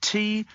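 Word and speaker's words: Türkiye: Turkiye. Oh, it's the Turkish pronunciation.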